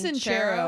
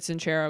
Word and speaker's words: Sincero: I think it's Sincero. I think that's how she, because I got the audiobook. Oh, okay. And I think she said Sincero because I was like, huh, that's not.